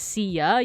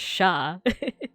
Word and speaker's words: siya: So yeah, like that you don't pronounce it as siya, you pronounce it as sha, exactly as Sushi said.